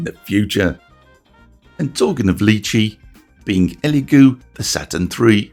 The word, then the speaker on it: Lychee: I've had a few folks quite correctly point out that I pronounce lychee in the same way as do the Belgian company that formed it, rather than the Western way, lychee.